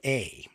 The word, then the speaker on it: Pascua: And I'm not even sure I'm pronouncing that right. It's Pascua.